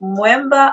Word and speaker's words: Mweemba: like no it's moment it rhymes with remember december um pretender people yeah but okay